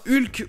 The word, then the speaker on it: Hulk: film du mc hugh au clae passons à hulk ou comme s'est prononcée en anglais or qu avec le h